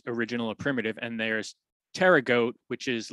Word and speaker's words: pterygote: is the weird part it's p t e r y g o t e so the tricky part is that p but if you think of it it's it's like pterodactyl which is kind of a related word so prototerra goat um